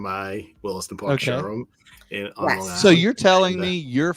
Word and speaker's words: Long Island: well, if you want to spell it phonetically, it's lawn, like lawnmower, lawn, Long and then Island.